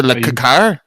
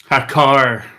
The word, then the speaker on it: Hakar: Dr. Lakakar? Hakar. Akar. Like a room. Hakar. Say it right, pleb.